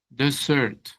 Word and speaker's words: desert: Es dessert doble s. Desert. Hay una palabra que se parece que es el desierto, pero tiene una sola s y se dice desert. Desert. Miren que cambia la entonación.